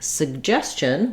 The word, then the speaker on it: suggestion: sound like in suggest in suggestion suggest that letter T becomes part of the uh the CH sound at the end which